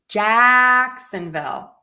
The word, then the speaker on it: Jacksonville: So for Jacksonville, we are going to stress the Jack Jacksonville and then Jaguars.